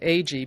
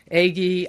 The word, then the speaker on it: Agee: the Pulitzer Prize posthumously now my surname AG became a bigger problem than the many mispronunciations I'd grown used to correcting eggie eggie eggie when people heard my